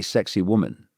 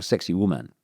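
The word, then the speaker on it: Sacsayhuamán: And uh it's not spelled like this, but it's pronounced apparently sexy woman or sexy woman.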